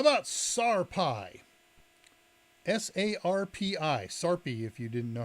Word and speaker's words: sarpi: link here in Yan chat how about sarpi s a r p i sarpi if you didn't know how to pronounce it let's put a slide up for